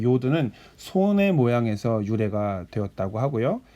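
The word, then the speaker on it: י: 그 다음에 10번째 자음은 요드라고 하는데, 이 요드는요, 다른 자음들 중에서 제일 작은 자음인 것 같아요. 왜냐하면 이 사각형의 반의 반을 사용하거든요. 그래서 이렇게 찍습니다. 마치 영어의 어퍼스트로피를 찍는 것 같은 느낌을 주시면서 쓰면 되는데, 이 요드는 손의 모양에서 유래가 되었다고 하고요.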